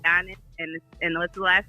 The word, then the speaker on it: Giannis: Giannis, like with a Y. Giannis Antetokounmpo. Giannis, and what's the last name?